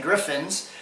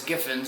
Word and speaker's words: Giffins: Griffins, and I was saying Griffins, and I didn't even realize that it was Giffins. It doesn't have an R in it, so I had my brain had my autocorrect on, and I was mispronouncing the name.